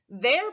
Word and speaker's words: their: is pronounced as in their parents are at home this word is pronounced exactly like the tricky word there remember that one you've